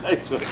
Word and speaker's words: Ryswyk: And I'm here with Don VanRyswyk, because I didn't want to mispronounce it, so I just, you're used to getting the elbow started, aren't you? That's right. Ryswyk. That's right. It's like, it's Dutch, right?